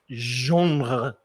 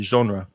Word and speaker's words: genre: right next one and this word i think comes from french genre but in english we'd probably just say genre and it's the kind